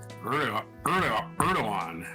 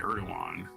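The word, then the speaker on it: Erdoğan: The opposition figure is seen as a key rival to President Recep Tayyip Erdogan. Erdogan is how you pronounce that. You don't say the G. Erdogan.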